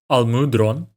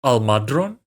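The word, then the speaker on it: Almudron: you pronounce this name I personally call them Al mudron but perhaps it should be pronounced Al madron but anyway I'm just going to call it Al mudron okay Al mudron stn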